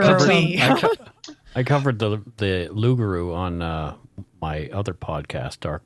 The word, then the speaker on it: loup-garou: Canada, is called the Loup-garou. Right. It looks like loup-garou, and that's a lot of people will pronounce it that way, but I think your French is supposed to be loup-garou.